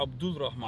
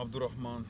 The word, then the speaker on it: Abdul Rahman: Technically, you don't pronounce the L in Arabic either. Yeah, Abdul Rahman.